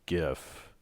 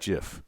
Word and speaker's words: GIF: gif graphics interface format but graphics starts with a hard g so it could be gif if you look in the dictionary it's either one but i like jif choosy developers choose jeff